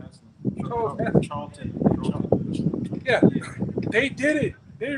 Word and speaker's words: Charlton: Charles Heston. Charlton.